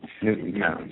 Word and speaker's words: Newtown: secondary place out of Newton, Connecticut. It's only a town of 2,000 people. We have to keep... Newtown, sorry. Newtown. We have to make sure we pronounce that right.